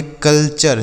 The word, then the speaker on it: culture: CULTURE इसे पढ़ेंगे कल्चर, CUL से कल, TURE को चर, यह लिखा आपका कल्चर।